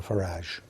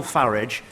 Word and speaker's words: Farage: of French fascists Nigel farage and Vladimir Putin well uh I'm glad he takes the uh the English pronunciation of farage rather than the rather py foreign sounding one that he seems to prefer I think that's a